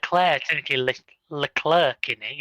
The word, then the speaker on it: Leclerc: You're supposed to pronounce the C on the end, but as British language normally goes, you wouldn't.